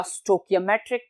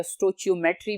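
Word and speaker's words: stoichiometry: Equations are used in स्टाइकोमेट्रिक problems या स्टोकियोमेट्रिक problems, या बाज लोग इसको स्टोकियोमेट्री भी बोलते हैं तो, या स्टोचियोमेट्री भी बोलते हैं, तीनों प्रोनाउंसिएशंस ठीक हैं।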